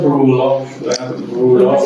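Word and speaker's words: rouleaux: Rulox, sin pronunciar la X.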